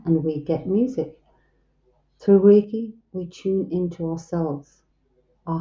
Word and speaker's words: Reiki: Reiki is a two-syllable Japanese word meaning universal life force. Rei, universal, ki, life force, pronounced Reiki.